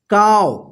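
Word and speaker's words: calve: यहां पे देखिए सी ए एल वी ई, इसको क्या पढ़ेंगे काव, काव का मतलब क्या होता है ब्याना, क्या होगा व्याना, ठीक है ना। तो देखिए यहां पे वी से पहले एल आया है ना, तो यहां पे एल साइलेंट होगा, ठीक है ना।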